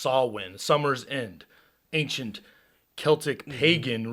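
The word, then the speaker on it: Samhain: was reading about uh sawwin which is s-a-m-h-a-i-n but you it's pronounced sawwin summer's end ancient celtic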